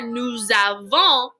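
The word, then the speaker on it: nous avons: with those vowel sounds since the next word starts with a vowel sound we it's called a liaison we liaise those words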